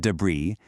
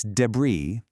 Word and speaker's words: debris: It's definitely not debris. The S is silent. It's debris.